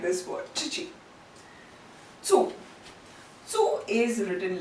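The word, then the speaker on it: つ: It's not ti, but it is pronounced as chi. And it is not tu, but it is tsu.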